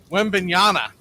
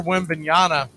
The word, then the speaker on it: Wembanyama: We're going to do this really, really quick because if you missed it, the kid from the San Antonio Spurs, Wembanyama, I believe is how he pronounces his name.